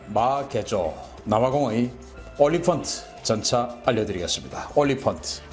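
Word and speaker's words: Olifant: 올리펀트, 엘리펀트하고 비슷한 발음이죠.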